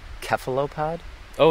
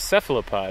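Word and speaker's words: cephalopod: mhm did you know he pronounces it keop pod oh instead of seop pod yeah apparently that's a British thing I didn't know so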